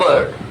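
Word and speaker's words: cupboard: अलमारी कड कप बर्ड सीयूपी बी ओ आरडी कबर्ड इसमें पी साइलेंट होता है इसके अलावा हो सकती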